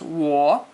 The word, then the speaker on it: 我: And 我 is said like how you say whoa. But when you say whoa, you start with an u, o, u. But when you say 我, you don't end with an u.